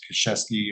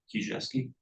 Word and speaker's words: Kijewski: One point of note, you'll notice the plat of survey that's up on there, Mr. Kashesky, am I pronouncing that right? Kijewski.